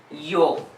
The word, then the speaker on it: yo: So how the Y is pronounced? Like yo.